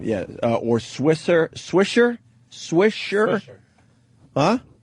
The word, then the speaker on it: Swisher: Swisher. Huh? Swisser. Swisher. That's how you pronounce it.